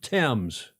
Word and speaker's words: Thames: of a lisp and could not say fames and he could only get out tames. So they as as one would out of respect for the king pronounce the river temps.